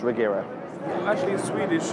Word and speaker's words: Regera: that how it's pronounced regera actually in swedish it's a hero very difficult to say yeah so i would say internationally let's call it the regera so it's quite different